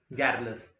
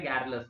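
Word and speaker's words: garrulous: जैसे आपको लगेगा सर इसका प्रोनाउंसिएशन, जैसा कि आपने बताया गैरलेस, गैरुलस नहीं, गैरलेस।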